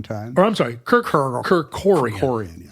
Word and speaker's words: Kerkorian: of your time, probably remember the character Kirk Kerkorian. Oh yeah. Yep. Wow, that takes me. I haven't thought of that name in a long time. Or I'm sorry, Kerkorian. Kerkorian, yeah.